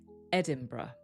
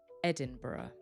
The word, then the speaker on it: Edinburgh: So, it actually sounds like Edinburgh. Edinburgh or Edinburgh. Edinburgh. Please note, it's spelled differently and it has a slightly different origin.